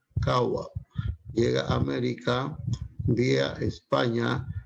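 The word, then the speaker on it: قهوة: La palabra café tiene su origen en vocablo árabe, kawa, que se pronuncia kawa.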